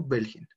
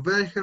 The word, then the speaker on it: welche: Perdón si ahí estoy pronunciándolo mal, esa CH suena belge, belges y plural belge. No como una J, sino más pronunciado. Lo repito nuevamente porque lo estaba pronunciando mal. Belge, belge. Belges, Belge, Belgen, Belge, Belges und Belge. Tampoco es como una Che, no es como una J, es como un paso entre las dos.